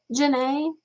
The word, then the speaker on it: Janae: Ah, so it's you say it Janae, but it's spelled like Jean, right?